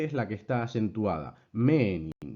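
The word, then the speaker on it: μῆνιν: Menin, no meenin, sino menin.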